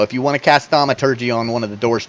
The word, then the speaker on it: thaumaturgy: Okay, the metallurgy or the thermology, thermaturgy, thermathingy. Thermaturgy. Neither one of them can speak. I believe it's pronounced thaumaturgy. Well, fine.